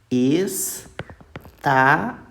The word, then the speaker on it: estavam: ó estavam só que a pronúncia é como pronuncia assim ó estavão tá então o u Ele é o qu